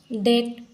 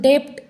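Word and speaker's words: debt: भी साइलेंट होता है फॉर एग्जांपल डेट यहां पर हम इसका प्रोनंसिएशन डेप्ट ऐसा नहीं करते डेट इस बी का प्रोनंसिएशन नहीं होता है डाउट यहां पर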